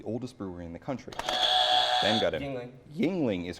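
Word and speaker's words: Yuengling: thousand this pennsylvania-based Brewing Company with an often mispronounced name is the oldest brewery in the country Yingling is correct for one thousand points uh let's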